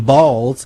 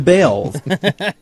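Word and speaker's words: Baals: After all, the family did change the pronunciation of their last name from Balls to Bales.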